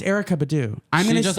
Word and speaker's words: Erykah Badu: It's Erykah Badu.